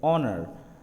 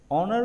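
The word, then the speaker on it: honour: দেন এইচ এর ব্যবহার, যেরকম আমি যদি এইচ এর এই শব্দটি উচ্চারণ করি এইচ দিয়ে, অনার, অনার উচ্চারণ করতে গেলে আমি এখানে ও উচ্চারণ করতেছি, তো it's sound looks like vowel, that's why এখানে এন বসছে।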